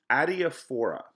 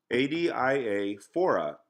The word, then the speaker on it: adiaphora: So he has this phrase, adiaphora. Okay, so I'm going to spell that for you since I don't have a whiteboard. So it's A-D-I-A, adia, A-D-I-A, phora, P-H-O-R-A, A-D-A-I-P-H-O-R-A, adiaphora.